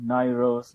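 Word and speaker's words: Nowruz: Navroz is a Persian word meaning beginning of, sometimes pronounced as Navroz or Nairoz or Navroz.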